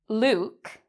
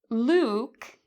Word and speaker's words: Luke: So there is a vowel sound in this word, Luke, like Luke Skywalker. Luke and boot have the same vowel.